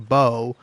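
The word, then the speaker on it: Beau: And you might think just on first blush if you don't know anything about the name B, oh that's spelled B O W, right? No, it's spelled B E A U.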